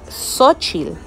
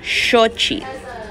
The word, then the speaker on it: Xochitl: of shochi and say sochil so i think um it's important to know the pronunciation of these now what sounds so whenever you see an x the x actually sounds like s h so sochil is actually